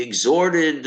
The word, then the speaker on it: exhort: strong request okay and you don't pronounce the h it's exhort it's not